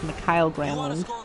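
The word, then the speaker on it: Mikael: By the way, it's not pronounced Michael Granlund as the NBC guys always seem to pronounce them. It's Mikhail You want to Granlund.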